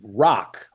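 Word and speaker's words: Raak: And her last name is Rock, but it's spelled R-A-A-K.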